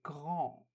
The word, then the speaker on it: grand: So A-N sounds on, so we say grand, grand, big.